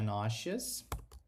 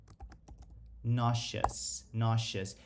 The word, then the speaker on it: nauseous: Sempre que a gente tem um S com um I, com um E, ele costuma ter um som de sh, tá? De X. Então, eu vou falar nauseous. E isso, cara, serve também para você falar as palavras que terminam com OUS. Muita gente pronuncia errado e fala OUS, mas é som de us.